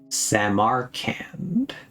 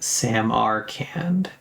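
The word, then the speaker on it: Samarkand: No, you're saying you're still saying Sam R can. The weight is on the Sam just say it like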